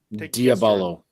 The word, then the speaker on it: Diablo: D I A B L O. Do you know how they pronounce that here? Diabolo. Diabolo. I mean, yeah. Uh, they say Diablo.